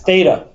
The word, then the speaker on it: Theta: like that Theta um the actual Greek spelling is that's a Theta that's an ADA this is T and that's Alpha looks like thata there you go or